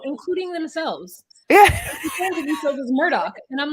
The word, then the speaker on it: Murdaugh: spelled murder unless the the G and the H in like Gaelic or whatever like this makes the sound of a k then everyone's saying their name wrong including themselves as Murdoch and I'm like no